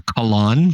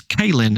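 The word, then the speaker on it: Kahlan: of my favorite characters I always called her colon because of the way it's spelled k a h l a n and then I heard the author say the name and he says kin and I'm like you're wrong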